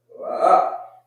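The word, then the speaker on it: לא: La, la.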